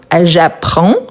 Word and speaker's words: j'apprends: conjuguer le verbe apprendre donc j'apprends je ne prononce ni le D ni le S donc j'apprends le français